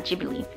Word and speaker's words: Ghibli: studio ghibli because that's how in Japanese mind is spelled out with the G yeah G believe if they if they wrote it in Japanese